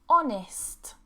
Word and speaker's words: honest: And remember, we're British, we don't pronounce the R. Hour. Next one, ghost, ghost, ghost. Okay, no H. Honest, honest, honest, no H.